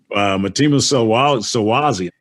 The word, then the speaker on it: Mtima Solwazi: And I saw his name and I'm like, well, how do you say that? And they said, it's Mtima. Mtima Solwazi.